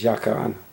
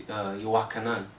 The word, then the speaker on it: Yochanan: my native tongue, Hebrew, is Yakarana, which I pronounced it wrong, so say it right. It's Yochanan. Okay, that's close enough to me.